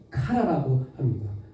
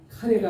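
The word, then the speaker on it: קָרָא: 이걸 어떻게 이야기 하냐면 카라라고 합니다 뭐라고요 카라 카레가 아니고 카라 카라라고 하거든요 아래 오라고 하는 히브리어를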